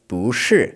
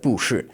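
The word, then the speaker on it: 不是: The character bu, meaning not, always changes to a second tone when it is before a fourth tone. And this is very common since remember we said a lot of verbs in Chinese are fourth tone. So you get bushi instead of bushi and bukan instead of bukan and buhui instead of buhui.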